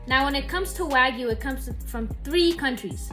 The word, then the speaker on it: Wagyu: If you call it Wagu, you're saying it wrong. It's pronounced Wagu.